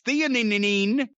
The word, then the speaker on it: theanine: like magnesium rishi i-theanine i don't know how to pronounce that and nano cbd it's theanine but it helps you